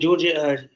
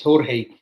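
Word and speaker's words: Georgiy: I think Georgia. People keep correcting me. It's Jorge Sudakov, because you don't pronounce the G.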